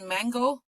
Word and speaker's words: Mango: NYPL card actually has Mango languages. So you can use your card and learn through one of the softwares there. Thank you. You're welcome. Are you pronouncing that like the fruit?